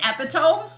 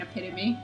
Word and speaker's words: epitome: I mean, I used to pronounce epitome as epitome. Epitome of fiber bowl. Yeah, because I couldn't figure out how to pronounce it, and then that was actually up until high school, and then It's chagrin. I think Tori made fun of me, and I like finally started saying epitome.